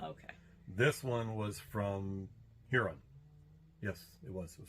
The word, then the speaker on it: Huron: this one was from Huron yes it was it was from here like we say Huron they say hearing so we're not quite sure yet everybody here says hearing a lot of the